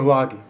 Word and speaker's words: vloggee: everyday watcher, EDW, or vloggy? Which I've been calling since the beginning of the channel. VLOGGEE. That's how you say it. It's like employee. It's like you're the employee, I'm the employer.